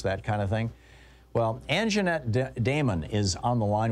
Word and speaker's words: Anjeanette: Anjeanette, first of all, I hope I'm pronouncing your name correctly.